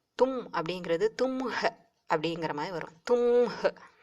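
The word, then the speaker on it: तुम्हें: நே சோ தும் அப்படிங்கறது தும்ஹ அப்படிங்கிற மாதிரி வரும் தும்ஹ சோ அந்த ஹ சைலெண்ட்டா அதாவது பேசும்போது அந்த ஹே வை சொல்லி பேசுறது கஷ்டமா இருக்குங்கிறதுனால அதை அவ்வளவா உச்சரிக்காமலே சொல்லிடுவாங்க சில இடங்கள்ல தும்மே அப்படித்தான் கேட்கும் ஆனா தும்ஹேன்னு இருக்கும் தும் அது வந்து நீ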